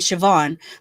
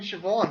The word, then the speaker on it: Siobhan: One was named Siobhan, but it was spelled like Siob.